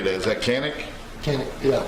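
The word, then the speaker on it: Canik: Is that Canic? Yeah. Canic, okay.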